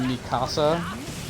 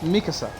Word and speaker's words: Mikasa: first came out cuz everybody would pronounce her name masika and now I feel like an idiot yeah it's Mikasa not masika Mika you yeah like a